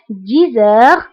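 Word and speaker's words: dix heures: دائما انتبهوا للنطق 10 heures. هنا أيضا قمنا بلا liaison entre X et H.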